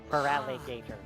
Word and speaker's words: Feraligatr: It's feral and gator. Feraligatr.